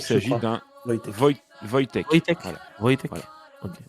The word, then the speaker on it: Wojtek: Mais oui, il y en a eu un, c'est l'ours, alors désolé pour la prononciation, Yoshtek. C'est polonais. Ok. C'est Il Wojtek, je s'agit crois. d'un Wojtek. Wojtek.